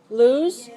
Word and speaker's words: lose: Lose? That's a verb, right? That's a verb. L-O-S-E, we pronounce ooh, lose.